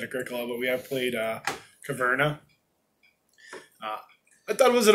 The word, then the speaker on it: Caverna: Well, I want to hear how you pronounce it. It's Carvana. No, that'd be Caverna.